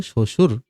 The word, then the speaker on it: শ্বশুর: এবার ব দেখো, ব যদি উচ্চারণ শুরুতে থাকে তাহলে উচ্চারণ হয় না, যেমন ত্বক, হ্যাঁ শ্বশুর, দেখছো উচ্চারণ করলে শ্বশুর, উচ্চারণ হয় না, স্বাধীন।